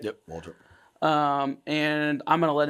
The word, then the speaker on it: Waldrop: Did I pronounce that right? Yep, Waldrop.